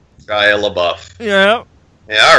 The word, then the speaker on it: Shia LaBeouf: Don't pretend you don't know how to pronounce his name. Shia LaBeouf.